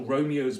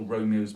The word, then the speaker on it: Romeo: by his lady's life it has to be two syllables there as rich shall Romeo's by his lady's lie poor sacrifices of our enmity so Juliet three syllables Romeo two souls but we have six